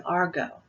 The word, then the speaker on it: argot: And this type of language is known as an argot, A-R-G-O-T. The T is silent.